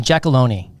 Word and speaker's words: Giacalone: I mean, I've got the hard G instead of the soft G.